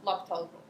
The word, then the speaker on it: L'Hospital: me so today and the pronunciation looks like hospitals but the pronunciation at least for most message inside here is locked all locked all rule is